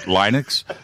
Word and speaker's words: Linux: Linux?